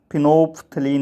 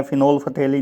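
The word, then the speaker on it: phenolphthalein: जो कुछ केमिकल्स हैं, जैसे फिनोफ्थलीन होता है, इसका नाम फिनोफ्थलीन है, फिनोल्फथेलिन नहीं, फिनोफ्थेलिन, पीएच यहाँ बीच में जो है वो साइलेंट है, तो फिनोफ्थलीन।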